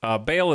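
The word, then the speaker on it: Bhaal: But yes, Bale is a very American pronunciation, I believe. Like a bale of hay.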